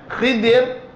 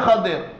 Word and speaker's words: Khidir: mengikut dalam Sahih Al-Bukhari, boleh disebut dengan Khidir. Di ejaan dia macam ni, Kha, Ba, Ra. Boleh baca dengan Khidir ataupun Khadir. Khadir atau Khidir. Boleh baca kha bagi bawah dan boleh baca kha bagi atas. Khadirun ataupun khidirun.